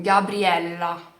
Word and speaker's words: Gabriela: Porque sim, tem dois L's e muita gente me chama com um L só. Não tem problema, mas agora você vai aprender a pronunciar direito o meu nome, tá bom? Então, Gabriela, lá, lá. Vai segurar esse L lá em cima, tá bom?